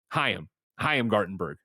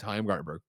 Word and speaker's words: Chaim Gartenberg: Oh, the story I just did for Luna, and it's actually Chaim Gartenberg. I apologize, Chaim Gartenberg.